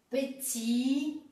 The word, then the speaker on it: petit: Quando a palavra termina por T, também nós temos aqui, regardez bien, petit, tôt, enfant, billet.